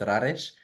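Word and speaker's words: Rareș: It is pronounced Rares. Bit challenging for people that cannot roll their R's and the S at the end. It's a sh.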